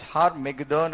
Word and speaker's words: Har-Megiddon: And it is pronounced in Hebrew tongue as Har-Megiddon, and that is called the Battle of Armageddon.